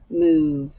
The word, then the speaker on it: move: a v move but you do not hear the E the E is silent M oo move it's like the oo